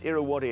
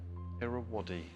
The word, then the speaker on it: Irrawaddy: It's Irrawaddy. It's spelled Irrawaddy. Irrawaddy.